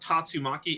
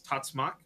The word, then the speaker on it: tatsumaki: word is for this they kind of Squish it down into like fewer syllables because like the end the end sound of one consonant or one uh syllable leads into the next one naturally if you just say them so it's not tatsumaki it's tatsak because the going from